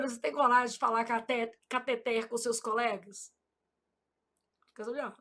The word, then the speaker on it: cateter: Eu falo: "Júlia, você não é daquelas médicas que fala catéter, não, né? Porque sua mãe é professora de português. Foi com esse dinheirinho que ela pagou os seus estudos. Então você vai falar catet, ela fica rindo."